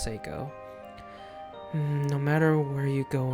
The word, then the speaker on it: Seiko: game but her name I'm pretty sure it's pronounced psycho no matter where you go in this house